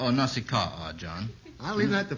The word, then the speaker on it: Nausicaa: Is that pronounced Nausicaa or Nausicaa, John?